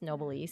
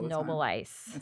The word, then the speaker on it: Noboleis: up with that now it's always mispronounced Noble e Noble e but it is Noble Ice hard it is that German that I I married